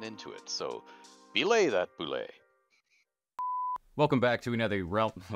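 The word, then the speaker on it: bulette: the monster Boule yes I know it's spelled bullette it's Boule it's from the French Boule these I did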